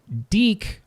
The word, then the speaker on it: Deek: Deek rhymes with geek.